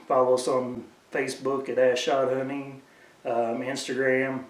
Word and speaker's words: AZ Shot: You can more than welcome to follow us on Facebook at Ash Shot Hunting. Instagram, it's Ash Shot Hunting. It's spelled AZSHOT and then hunting.